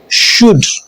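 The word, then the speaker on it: should: cough लफ rough O यू के बाद आने वाला एल साइलेंट होता है जैसे कुड शुड एच से पहले आने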